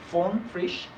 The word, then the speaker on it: von Frisch: It's Carl Ritter von, I believe, von Frisch. That's the correct way of pronouncing his name, I think.